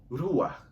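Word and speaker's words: רוח: São 3 letras hebraicas, 3 consoantes hebraicas que pronunciamos ruach.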